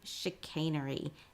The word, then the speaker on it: chicanery: for some help but knowing now that this is a sha sound then you have sh sh a Shain e chicanery and that is how we pronounce this word if this is a